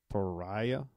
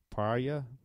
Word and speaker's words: Paryah: P-A-R-Y-A-H. And I can say that Pariah. Pariah.